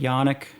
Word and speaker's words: Janik: i k cuz there's there's a a a faction that spells it the same but they pronounce it yanic there's a uh there's